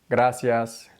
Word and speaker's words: gracias: not rolled not drilled when the r comes before or after a consonant that's part of the same syllable gracias fresa and so on